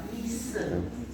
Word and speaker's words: Misce: Mise. Bacanya mise, tulisannya apa? Misce, gitu ya.